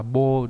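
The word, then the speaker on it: 謀: Mưu đọc là gì? Đọc là bô đúng không?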